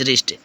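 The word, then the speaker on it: wrist: In order to Hari him, जल्दबाजी में the servant held रंगा बाई हिज रिस्ट, नौकर ने रंगा की कलाई, रिस्ट मीन्स कलाई, डब्लू साइलेंट है, रिस्ट।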